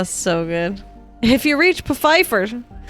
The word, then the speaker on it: Pfeiffer: he goes no it's puffer the p is not silent oh my god so good oh so good if you reach pfeiffer say hi to michelle